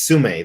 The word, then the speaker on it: Tsume: I'm getting the Tsume, or Sume. It's Sume. That's how you pronounce it.